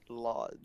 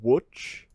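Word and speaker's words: Łódź: Lods. No. Wait, what is it? It's Lods. I don't know my Slavic cities. Okay, so it's It's not spelled pronounced it's that, pronounced actually. Wutch, but it's spelled Lodz.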